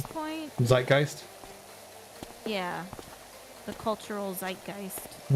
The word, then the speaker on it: zeitgeist: zeitgeist yeah the cultural zeitgeist i didn't know how to pronounce that word like heist yep oh i mean